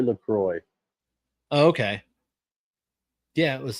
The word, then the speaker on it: LaCroix: So, by the way, according to the website, LaCroix is supposed to be enjoy. It's the rhyme, so you can LaCroix, enjoy LaCroix.